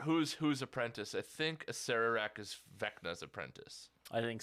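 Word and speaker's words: Acererak: I've heard it pronounce I've always heard I always say a serak it's a serak yeah um so he's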